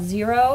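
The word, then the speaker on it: Xero: um so there's a a program called zero it's spelled with an X um that's about half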